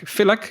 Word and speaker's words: Filak: That sounds fantastic because Peter is here with us today because Peter Filak. Filak, is that a good way to pronounce it? That's correct.